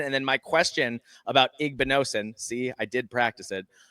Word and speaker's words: Igbinosun: At corner, it looks like Davison Igbinosun. Yep, Igbinosun. I said it right before I thought about it, and then I thought about it, and that was a mistake.